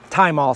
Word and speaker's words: thymol: is about using thymol time all some people don't pronounce the h uh and that's what